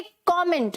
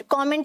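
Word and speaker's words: comment: find तो क्या बोलोगे कमेंट कमेंट का मतलब क्या होता है अपनी राय देना ठीक है अपने व्यूस देना प्लेयर क्या बोलना है कॉमेंट कैसे बोलना है कॉमेंट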